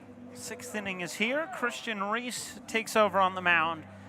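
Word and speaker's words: Reis: Reese on Reese action. Christian on the mound, spelled R-E-I-S. Reese at the plate, R-E-E-S-E. Pronounced the same.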